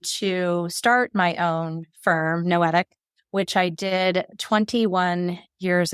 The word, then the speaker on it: noetic: So Noetic Consulting, what does Noetic even mean? Thank you for asking that. A lot of people do not know that it's a word. It is a word in the dictionary, rhymes with poetic.